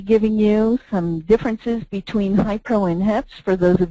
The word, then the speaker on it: HIePRO: First of all, you notice that we pronounce it HiPro. Even though it's spelled Hi-E-Pro. What happened was we found we had a hard time with the extra E, and it ended up becoming HiPro, so we're just going